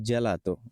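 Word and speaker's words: gelato: দেখি চি এর পরে এ আসছে এজন্য হচ্ছে জেলাতো জ্বর উচ্চারণ ওকে আমি চেষ্টা করছি একদম সহজভাবে বোঝানোর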